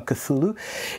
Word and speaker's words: Cthulhu: On nous rappelle comment se prononce Cthulhu, hein, Cthulhu.